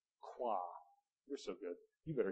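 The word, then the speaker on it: Croix: order of the Rose how do you pronounce that c r o iix qua you're so good you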